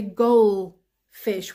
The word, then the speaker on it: goldfish: life if I'm not mistaken and we say goal fish we don't pronounce the DU because du and then fish